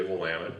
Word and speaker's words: Willamette: But the first thing you got to do is learn how to pronounce things." And he taught me how to say Willamette, because in the Midwest it's Willamette, because there's